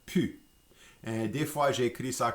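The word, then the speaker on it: pus: So the plus with ne plus in Louisiana French becomes pronounced just pu. And des fois, j'écris ça comme P-U-S ou P-U.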